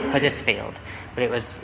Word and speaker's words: Huddersfield: but you do pronounce it's like ERS field but the H is still there you just don't say it yeah I mean I